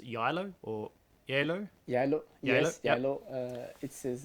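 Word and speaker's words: Geilo: a little town up in norway uh it's pronounced yellow or yellow yellow yes yellow it is it's a lovely town meet on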